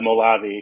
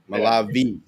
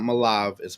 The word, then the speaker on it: Molave: have to change it but it's it's a malavi fortunately malav soris on the e at the end okay you guys hear here here first it's not malav is malavi okay yeah I never I've never even